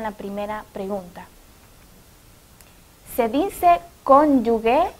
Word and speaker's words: cónyuge: Lo correcto es cónyuge. Es un sustantivo que refiere a consorte o persona unida a otra en matrimonio. Se pronuncia cónyuge. Ustedes ven en la pantalla que está entre corchetes y escrita conforme a pronunciación con K y con J y con tilde en la O.